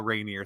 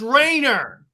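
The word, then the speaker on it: Rayner: get the joke um the character's name is Kyle Rainier so I was just making a really bad Pun It's pronounced Rainer the cool thing is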